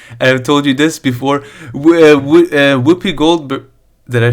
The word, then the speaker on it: Whoopi Goldberg: Whoopi Goldberg.